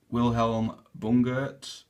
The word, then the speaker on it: Wilhelm Bungert: with the shelltoes so they are the I'll pronounce this correctly Wilhelm Bunger okay um now he was a I believe